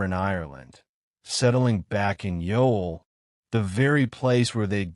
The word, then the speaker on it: Youghal: The seaside town of Yol, spelled Y U G H A L, but pronounced Y A WL, looks like a postcard.